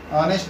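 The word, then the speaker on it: honest: से हो रही है, लेकिन चूंकि एच साइलेंट हो जाता है प्रोनाउंसिएशन में, बोलने में इसकी स्टार्टिंग होती है ऑनेस्ट से, ओ से आ रहा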